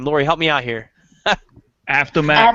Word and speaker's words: Avtomat: activist by the name of, I can't even pronounce his name. Lori, help me out here. Avtomat Avtomat.